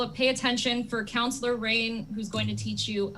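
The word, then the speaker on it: Rayn: I'm usually embarrassed because my name is actually spelled r a YN and it's rain it's counselor rain that's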